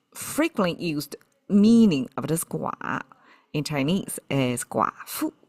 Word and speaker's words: 寡: Okay, this is gua. I translate it as alone. And the most frequently used meaning of this gua in Chinese is gua fu, means widow.